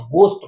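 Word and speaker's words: ghost: अन्यथा कहीं कहीं GH का प्रोनाउंसिएशन ग से भी निकल करके सामने आता है, जैसे घोस्ट, तो घोस्ट है लेकिन घोस्ट नहीं पढ़ते हैं, गोस्ट पढ़ते हैं, गोस्ट, गोस्ट।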